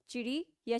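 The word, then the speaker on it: चिड़ियाँ: बहुवचन चिड़िया चिड़िया होगा या इसमें चंद्र बिंदु का प्रोनाउंस यानी उच्चारण होगा है ना चिड़ियां ठीक है तो डी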